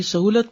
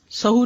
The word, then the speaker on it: سہو: کا فعل بھی ہے۔ سہو ہوتا ہے، سہو نہیں ہوتا۔ سب لوگ اپنا تلفظ بھی درست کر لیں۔ سہو جیسے لغو، ٹھیک ہے، کرب، نفس، سہو۔ سجدہ سہو کے اسباب،